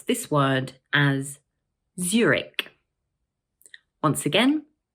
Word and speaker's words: Zurich: This word is also made up of two syllables, and the first one is stressed.